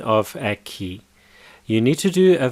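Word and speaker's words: aqui: care care is more Spanish standard Brazilian Portuguese pronunciation key so repeat after me a key right now let's go through each of these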